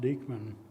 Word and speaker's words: Dyckman: And another prominent Westchester scout, Abraham Dyckman, uh Dyckman, but it really should be pronounced Dyckman.